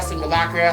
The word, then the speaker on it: simulacra: In particular, they were built to stimulate the underlying concepts behind simulacra. Simulator simulacra. Try saying that 3 times fast. Simulacra, simulacra, simulacra.